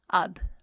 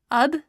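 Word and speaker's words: اب: So we've already seen the word ab, which means now. Ab is alif and be. Ab.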